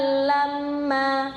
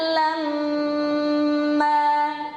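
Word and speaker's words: لمّا: Nah, di kata aklan lamma ini juga kebanyakan orang bacanya aklan lamma, kurang sabar ya. Di situ mimnya ada tasdid, jadi harus lama dengungannya. Aklan lamma.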